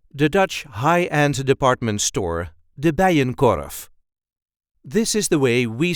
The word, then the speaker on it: de Bijenkorf: Dutch high-end department store, de Bijenkorf. This is the way we say de Bijenkorf. De Bijenkorf. There is a light emphasis on the first part of the second name.